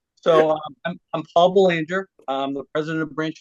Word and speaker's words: Boulanger: ones to say it right so I'm Paul Banger I'm the president of Branch 44 um I